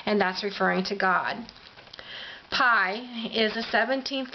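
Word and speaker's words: Pei: called the letter, well, it's P-E-I, and I'm going to pronounce it pi for lack of a better understanding.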